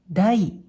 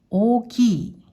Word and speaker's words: 大: の漢字、音読みで大、大、または大、大、訓読みで大きい、大きいと読みます。